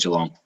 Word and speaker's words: Geelong: it first nope so i'm glad you did the strong g um and so i